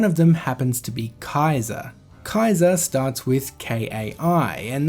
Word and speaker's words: Caesar: In Latin, there is no such thing as a soft C. The letter C is always pronounced like the letter K. And also in Latin, the letters AE are always pronounced as I.